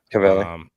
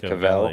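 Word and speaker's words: Caviezel: It's like a Z in Cavelli. there. Cavelli.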